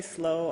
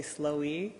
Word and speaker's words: SLOE: important first of all some people will say slow other people say slow II I say slow that's the right way to say it but usually her both